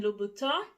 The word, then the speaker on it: Louboutin: me in the comments telling me how to pronounce the butter don't even try it okay so it is called christian louboutin and i ordered two